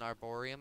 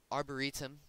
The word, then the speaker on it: arboretum: you're farming by default this is an arborium i think is what it's called i will double check the pronunciation right now arboretum sorry it's an arboretum it will currently it